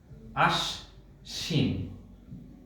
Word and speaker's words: আশ্বিন: এখানে তালব্য শয়ের সাথে ব আছে, এই বয়ের উচ্চারণ হবে না, কারণ এটি অন্তস্থ ব। এই ব তালব্য শয়ের সাথে আছে, এই স দুইবার উচ্চারণ হবে।